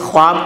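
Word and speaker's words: خواب: एक लफ्ज है खानी यहां वाव नजर तो आ रहा है लेकिन पढ़ा नहीं जाएगा यह वाव पढ़ा नहीं जाता इसको वाव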